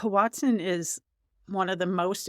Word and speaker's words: hoatzin: the the am I saying it right the Watson yep okay so Shannon you suggested doing this bird and I wasn't familiar with it and the more we've been researching like this is we're so excited H Watson is one of the most interesting birds I